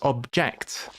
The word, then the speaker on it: object: So, if you say I object to that, that's a verb. So, it's object. Object is where the emphasis is. But if something is an object, the emphasis goes on the first word, on the first syllable.